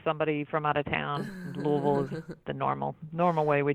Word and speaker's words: Louisville: Maggie Harlow with Signarama in downtown Louisville, Kentucky. And Maggie, I understand that the technical pronunciation is...